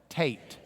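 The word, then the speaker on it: טית: say it all together Tate rhymes with Kate Tate so we've got K Tate an easy rhyme and after that you're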